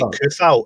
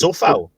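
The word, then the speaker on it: Šofal: And apparently, you don't say Kufal; it's Sofal.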